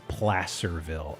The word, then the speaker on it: Placerville: Pronounced Placerville, I see.